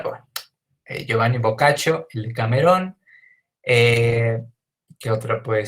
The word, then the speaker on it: Boccaccio: De Giovanni Boccaccio, que la verdad es que no sé precisamente por qué le decimos Boccaccio, si en teoría sería Boccaccio, pero bueno, al parecer ahí hay alguna excepción a las normas de pronunciación del italiano, pero bueno, Giovanni Boccaccio, el Decamerón.